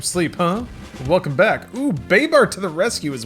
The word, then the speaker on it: Babar: It's pronounced Babar.